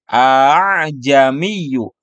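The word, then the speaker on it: أأعجمي: Namun untuk dibacanya dibaca tashil sehingga bacaannya menjadi A'jamiyyu.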